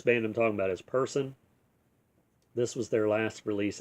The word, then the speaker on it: Purson: Um, and if you're not familiar with Person, it's spelled Purson.